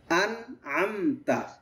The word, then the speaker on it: أنعمت: আন হচ্ছে হামজা আর পরে এটা হচ্ছে আইন, একটু খেয়াল করব।